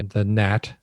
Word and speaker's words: gnat: They have, depending on the gnat, and that's spelled G-N-A-T, by the way.